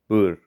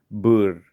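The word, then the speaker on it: Boer: those International people that that is how you pronounce it you roll the r bur but you do it once so bur there we go cool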